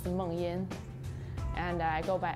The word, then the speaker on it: Mengyin: If you pronounce it in Chinese, it's Mengyin.